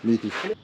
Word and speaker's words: Mudgee: So that's how you pronounce it. Mudgee.